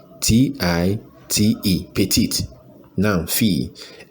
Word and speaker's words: fille: yes - petite fille Emma yes let me spell it p e TI te p e TI te petite now fee f i WL e f i ll e fee then e st ma ma yes yes yes